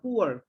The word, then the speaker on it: poor: দ্য পুয়ারের পরে বলো, আর উচ্চারণটা তো পোর না, পুয়ার।